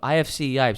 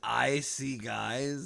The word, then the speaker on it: IFC Yipes: Say his name is IC Guys? No. IFC Yipes. That's his tag. IFC Yikes? Yipes, like with a P.